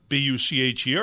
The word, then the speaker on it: Bucher: Bucher, B-U-C-H-E-R, and I hope I'm pronouncing your name right, Mark. Yep. All right, great. Mark Bucher. It's the German pronunciation there.